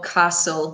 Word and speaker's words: castle: Pay attention, this might be obvious, but pay attention to your pronunciation of castle. We don't pronounce the t in this word, okay?